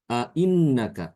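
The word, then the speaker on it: أَإِنَّكَ: Yi contohnya pada kata A innaka Ya A innaka maka bacaan Ibnu Katsir dibacanya ainnaka ainnaka seperti itu Jadi hamzahnya tidak jelas dibaca ya ya itu cara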